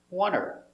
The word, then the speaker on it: want: Now, with want, that T is almost silent. The tongue comes up a little bit, but not much. Want. Wanter. And the H is silent.